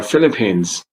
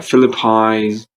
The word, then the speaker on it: Philippines: Moving on to another country, that is the Philippines. Yeah, don't say the Philippines because that's not correct. So we need to say Philippines.